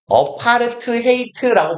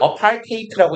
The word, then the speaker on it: apartheid: apart hate라고 보통 우리는 부르고요. 뭐 양놈들은 apartheid라고 읽어요.